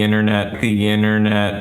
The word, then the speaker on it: internet: Many times, the T in an unstressed syllable is silent after a syllable that ends with N.